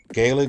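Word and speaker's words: Gaeilge: them uh you know gig is more a um olster pronunciation Gua is more commonly used for those who U studied the standard and school or U or speak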